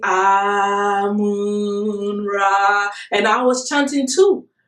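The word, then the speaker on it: Amun-Ra: And before then, I mean, I used to call the Egyptian god Amen Ra, the sun god Amen Ra. That's how I pronounced it. But in the dream, it was corrected. I was saying, everybody was saying Amun Ra.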